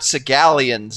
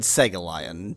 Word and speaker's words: Segallion: with no flint or steel, but merely Lord Sigalian's spyglass. Oh, yes. So, yes. And it's Lord Segalian. Don't mispronounce Right.